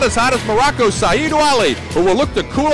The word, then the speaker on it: Ouali: Now, you're the one who taught me how to say that. Am I saying it right? Well, that's because he taught me how to say it. It's Ouali.